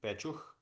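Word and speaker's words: Pécs: I don't know how it's pronounced in your language, but our folks pronounced it Pechuch, the place.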